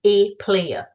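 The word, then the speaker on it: APLAER: So it adds A and the P in front of the LAER and pronounced as A player.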